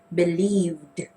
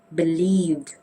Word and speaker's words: believed: It's supposed to be pronounced with a d sound. So we say believed, believed.